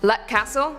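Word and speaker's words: Leap Castle: Lep Castle, yep, it's pronounced Lep, is a castle located in Calgary County, Offaly Island.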